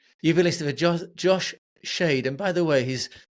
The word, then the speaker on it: Schaidt: You've been listening to Josh Shade. And by the way, his surname is spelled Schaidt. It sounds like a sort of a word scramble game, but it's pronounced Shade.